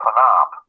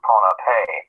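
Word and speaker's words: Pohnpei: Northern end of another island called panap sometimes pronounced pona and Nadal this artificial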